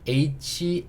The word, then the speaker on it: hate: 자, 이번에는 H-A-T-E. H는 무슨 소리가 나죠? 그렇죠. 히읗 소리가 납니다. 흐 소리가 나요. A는 여전히 A. T는요? 티읕. E는요? 묵음. 그래서 여기도 의소리 달아주니까 hate 이렇게 읽을 수 있겠죠?